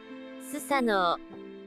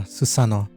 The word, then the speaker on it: Susanoo: to pronounce it susano all right yeah susano there you go that's how you pronounce Ito yeah uh they